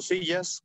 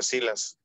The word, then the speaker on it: Silas: Y normalmente en México yo lo pronuncio como Sillas, pero el origen es irlandés y sí se pronuncia Silas.